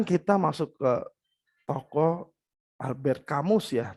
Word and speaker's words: Camus: Teman-teman, sekarang kita masuk ke tokoh Albert Camus ya, tapi ada orang bacanya Albert Camus gitu, katanya sebenarnya.